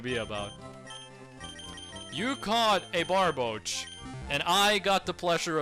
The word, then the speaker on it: Barboach: It's not Barbababoka, okay?